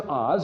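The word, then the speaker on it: עֹז: And it means, it's pronounced Oz, and it means glory, splendor, might, bold, dynamic, acrid, sharp, pungent, just blazing color.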